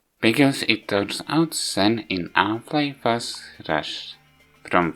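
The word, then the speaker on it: Xen: This remake completely changed how it looks, and noticeable change between games, and why it's rated with X, but it's pronounced with Z, not with Z. Because it turns out Zen in Half-Life was rushed, from what I heard.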